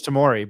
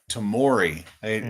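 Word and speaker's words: Tamari: Tamori. So you the the last A is pronounced as an O then. Tamori.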